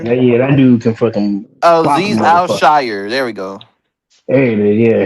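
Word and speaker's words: Al-Shaair: I can't pronounce his name. Goddamn it. Say it again, Freddie. Yeah, that dude can fucking. Aziz Al-Shire. There we go. Hey, yeah, him. That Aziz Al-Shire.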